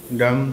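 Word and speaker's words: dumb: এতটুক থাম্ব থাম থাম্ব ওকে সবগুলা ওয়ার্ড এই ডাম থাম টম টম ডেথ এখান থেকে এটা সরে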